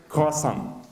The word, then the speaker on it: croissant: Его причастие звучит как «croissant». Французы, да, имеют ужасную фонетику, последняя буква обычно читается, «т» не произносится.